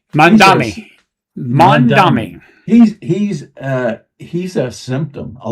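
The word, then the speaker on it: Mamdani: And Mandani is that pronounce how you pronounce his name? Mandami.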